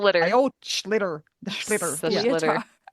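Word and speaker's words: sliotar: The schlitter. Yep. It looks like when you try to pronounce it, that's what it looks like. Sleotar.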